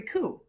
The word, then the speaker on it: coup: power in a military coup in 1953. You know, coup is spelled C-O-U-P, but you know, P, you know say it, it's silent.